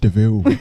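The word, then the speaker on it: de Vil: call yourself cruella deville it's like devil but it's pronounced deville freaking horse he's getting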